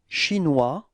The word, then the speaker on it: chinois: So O-E-S, final S is not pronounced. Oie. Oise. Okay. Chinois.